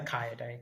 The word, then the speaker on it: Kayode: So it's pronounced K. Ka day. Okay. Ky. Yeah. Somebody called him Kai for sure, but I prefer Kaio day cuz Yeah, that's his name.